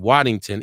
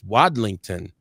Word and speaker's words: Wadlington: I was saying Waddington. It's Wadlington.